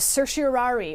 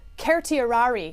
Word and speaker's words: certiorari: or certiorari or uh the actual correct Latin pronunciation, I am told by Latin professors, is certiorari, which nobody in the history of lawyers has ever used in their life.